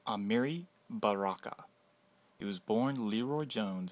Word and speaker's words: Amiri Baraka: Amiri Baraka, pronounced Amiri Baraka.